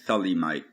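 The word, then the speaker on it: Thelemite: know by now that i used to be a talimaite some people pronounce it thalimite which is a practitioner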